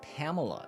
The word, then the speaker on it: Palmela: Palmela equals Pamela is how it is said.